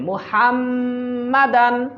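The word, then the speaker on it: محمدا: ওয়া আশহাদু আন্না মুহাম্মাদান মুহাম্মাদান হা উচ্চারণ করবেন মুহাম্মাদান মুহাম্মাদান আবদুহু ওয়া রাসূলুহু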